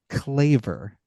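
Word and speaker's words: Kleve: as, but it's actually pronounced Claver, which is kind of Hmm. cool. I liked it better. And apparently Anne actually went by Anna, so really she should be called Anna of Claver, but Anna Cleves is how she's known, so we'll go with that.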